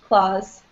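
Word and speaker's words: clause: their oh claws yes it's pronounced the same way as claws oh oops Yeah yeah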